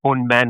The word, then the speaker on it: Ponman: It's actually a wordplay. It's Right. called Old man, right? Ponman. Ponman means kingfisher in Oh, okay. Malayalam. It's kingfisher's Malayalam is Ponman, and Ponman because gold man, Right.